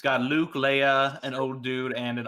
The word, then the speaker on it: Leia: think Admiral Jan dodon he's the one that mispronounces Princess Leia's name Leah come on Janice do better yeah well Luke